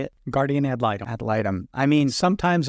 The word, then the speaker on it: guardian ad litem: Guardian ad litem.